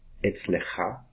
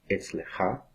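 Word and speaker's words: אצלך: Etzlecha, etzlecha, ou etzlech. Aqui vemos a pronúncia do Raf Sofit como etzlech, etzlech, quer dizer, na sua casa, etzlo, na casa dele, etzla, na casa dela.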